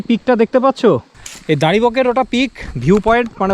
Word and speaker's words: Daribokgre: আর সুদীপের অবস্থা তো একচুয়ালি উচ্চারণ হচ্ছে দাড়ি বকরে ডি এ আর আই